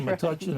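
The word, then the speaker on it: Metuchen: And we're still debating here, do you pronounce it maten? And that seems to be the consensus.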